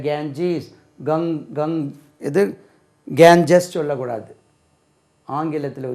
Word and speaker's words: Ganges: GANGES, GANGES உச்சரிப்பு பாருங்கள். நம்ம கேஞ்சஸ்ன்னு சொல்லி படிச்சிருக்கோம். கேஞ்சீஸ், கேஞ்சீஸ், கேஞ்சீஸ், ஜெட்டில் முடியணும். கேஞ்சீஸ், த கேஞ்சீஸ், த கேஞ்சீஸ் ரிவர், த கேஞ்சீஸ். கங் இது கேஞ்சஸ் சொல்லக்கூடாது.